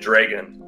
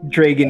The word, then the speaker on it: Dregon: count dragon sight we we spelled it with an e so we pronounced it dragon dragon yeah people would think